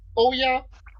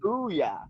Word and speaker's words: Ouya: Hypothetically speaking, is his son named Oya? That was a failed video game system. I'm sorry, I don't. Yeah. Oh, the Ouya. It's called Ouya.